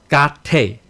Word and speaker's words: gate: In Sanskrit, it's pronounced gate. The e is long. T-A-Y. Te.